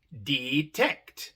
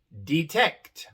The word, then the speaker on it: detect: Porque viene separada de otra E por una sola consonante. D. La segunda E nos dice que la primera es larga. Pero como no viene al final de la palabra, también se pronuncia. Y como viene en la sílaba tónica, la sílaba acentuada, se pronuncia E. Tenemos I-E. Detect. Detect.